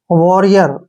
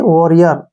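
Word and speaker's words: warrior: व आर को हमने डबल आर को र पढ़ना है र और आई का उच्चारण ई के रूप में करेंगे ठीक है और ओ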